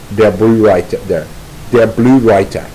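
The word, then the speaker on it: Der Blaue Reiter: The reality is that she was involved more fully with the latter group, Der Blue Reiter, that's how you pronounce it, which translates to the Blue Rider.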